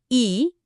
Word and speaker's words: 이: Empecemos con la primera pieza del rompecabezas, este, la sílaba i, que suena como una latina.